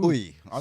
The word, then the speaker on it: Uyi: but like that's what since I've been in primary school, because the teacher couldn't pronounce my full name, she called me. Right. So it's actually pronounced Uyi, okay.